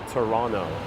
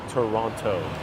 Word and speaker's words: Toronto: Canadians pronounce it they the second T is silent Toronto as opposed to Toronto I arrived just yesterday